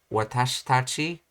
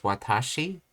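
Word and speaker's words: わたし: the roett stone lesson I was basically pronouncing it as Watashi but as I heard the Japanese speaker I started to change to watas and I have a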